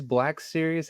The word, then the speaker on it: Black Series: Is it bulk series, black series? How do you pronounce your I mean, account?